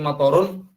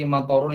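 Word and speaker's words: مطر: iya hujan jadi abdi mathorun ini adalah hujan hai oke yang dalam bahasa Arab itu kita harus pasien pengucapannya motor Tom motor jadi panjang-pendeknya harus jelas 4 supaya tidak salah paham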